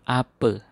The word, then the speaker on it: apa: Ingat kalau A di belakang dibaca E ya. Misalnya ini kace dari kata kaca. Ini mata bacanya mate. Bapa dibaca bape. Kemudian apa kita ucapkan ape.